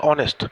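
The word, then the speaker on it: honest: দেখো আটের দাগেরটা হচ্ছে অনেস্ট অনেস্ট আর কি অনেস্ট এইচ দিয়ে শুরু হচ্ছে ঠিক কথা কিন্তু দেখো যখন উচ্চারণ করছি ও এই ভাওয়েল সাউন্ডটা আসছে তাই অনেস্ট এর আগে আমরা এন বসাবো ঠিক আছে এবারে দেখো ন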